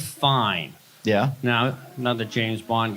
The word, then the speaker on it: Fiennes: But Rafe Fine is spelled, I'll take the fine, you know, F-I-E-N-E-E-S, you know, the fancy French, leave out the... But the Rafe, when it's spelled Ralph, I mean, come on.